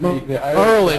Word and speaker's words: Maryland: Yeah, I guess Merlin. It's Merlin if you live in Baltimore.